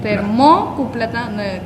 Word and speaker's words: termocupla: Es grave, no es aguda, porque si no tendría acento en el. Termocupla. Termócupla. Tendría acento en la. En la O, pues.